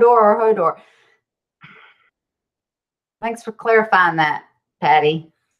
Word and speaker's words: Hodor: Kimberly's putting, is it pronounced Hodor or Hodor? Thanks for clarifying that, Patty. He capitalized it. Hodor.